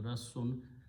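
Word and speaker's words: رَسّ: The root letter Rassun with a shadda, because there are two sin and sound is sin, Rassun.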